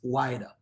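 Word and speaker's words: Ouidah: It's Wida.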